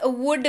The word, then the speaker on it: would: अगला शब्द है हमारे पास वुड बी, WOULD, और इसके उच्चारण के वक्त एल को क्या कहेंगे कि भाई तुम चुप रहो, और आप उच्चारण करेंगे वुड, WOULD, लेकिन उच्चारण होगा वुड और इसके साथ लग